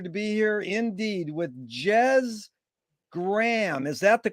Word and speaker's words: Jez Graham: It's an honor and a pleasure to be here indeed with Jez Graham. Is that the correct way to pronunciate it?